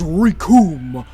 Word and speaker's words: Recoome: As Recoome was saying, Damn, he's big. the name's Recoome! It rhymes with doom!